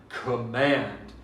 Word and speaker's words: command: We sometimes stress the second syllable. We say, obey my command. Command. We don't say, obey my command. Command. We don't stress the first syllable. That's not correct.